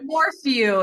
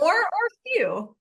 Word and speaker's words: Morphew: I'm saying it right morphew it's an Oxon okay okay you want more or few more or few that's right we want more